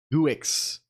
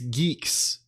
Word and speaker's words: Guix: be the the the fact that it's not pronounced guix is maddening right or or or or gck it's Geeks it's canonically Geeks um I I I